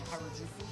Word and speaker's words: Harajuku: Uh, how do you pronounce it? Um, Kaiju. No. Um, Harajuku.